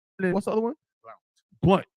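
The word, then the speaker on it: Blount: Blunt. I think it's pronounced Blunt.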